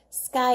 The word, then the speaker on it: sky: Sky is just 1 syllable, so the Y sounds like an I.